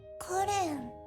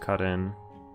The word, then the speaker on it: Karin: Sara, Karen. Oh, it's pronounced Karin.